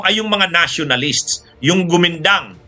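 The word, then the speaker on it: Kuomintang: mga nationalist o kumintang pronunciation sa kanila niyan gumindang okay kaya lang sa atin nasanay na tayo kumintang habang na ang gobyerno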